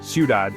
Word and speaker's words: ciudad: The stress is naturally on the last syllable. For example, ciudad, city, comer, to eat.